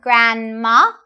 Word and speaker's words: grandma: We don't really say the D. We say grandma and grandpa.